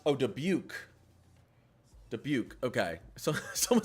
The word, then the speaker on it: Dubuque: How do you guys pronounce that? Debike? No way that's pronounced. Oh, Dubuque.